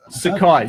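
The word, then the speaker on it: Sakae: ha like you kind of plays Sookie search Sakai so close and you pronounce it yeah Sakai so how's the spell it's a ka e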